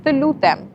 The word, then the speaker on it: të lutem: We say të lutem.